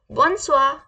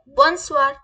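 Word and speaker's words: bonsoir: किसी को good evening बोलना है कैसे बोलेंगे बोन स्वा कैसे बोलेंगे बोन स्वा बन स्वा ठीक है किसी को गुड इवनिंग ग्रीट करना है कैसे बोलेंगे बोन स्वार कैसे बोलेंगे बोन स्वा ओके समझ गए होंगे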